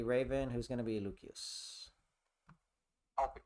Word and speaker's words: Lucius: Who's going to be Lucius? I'll pick Lucius. You don't have to call him Lucius. I'm just doing that 'cause I'm being pedantic about the Latin pronunciation.